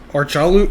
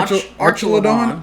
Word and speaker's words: Archelon: this one we have archal archal now now you got me thinking I'm pronouncing this weird that sounded better AR archelon archelon o I like it I think we got it archelon um with the